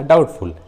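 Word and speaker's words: doubtful: जैसे डाउट, देखिए इस इंग्लिश वर्ड में टी है और टी के जस्ट पहले बी है, इसलिए यहाँ बी साइलेंट है, डाउट। उसी तरह डाउटफुल, सटल, देखिए इस इंग्लिश वर्ड में टी है और टी के जस्ट पहले बी है, इसलिए बी साइलेंट है, सटल।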